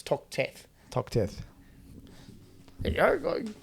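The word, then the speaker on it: Toxteth: Tox Teeth Road? Tox Teeth Road is in Glebe. There you go. That's not how you pronounce it. It's Tox Teeth.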